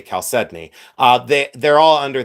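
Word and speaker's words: chalcedony: Um or calcided, but I say calcedney.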